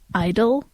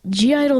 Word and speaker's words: (G)I-DLE: of people just say Idol which I think is wrong because um well G Idol themselves have said g Idol and also what's the G for if it's not supposed to be pronounced cuz like the G